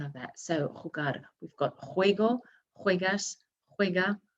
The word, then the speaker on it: jugar: So jugar, we've got juego, juegas, juega, jugamos, jugáis, and juegan. Remember that j sounding right from the back of the throat.